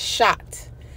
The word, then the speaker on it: chat: with this catfish so in haitian creole cat is shot but it's spelled chat like they'd be like